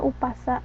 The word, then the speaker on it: Umpasa: sebagai paparikan sementara bahasa Batak eh sebagai Umpasa dibacanya umasa nah ini Eh identifikasi dari ee karangan pantun